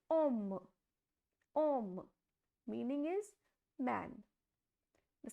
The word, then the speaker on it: homme: So, as I told you, H is always silent, so the pronunciation will be om.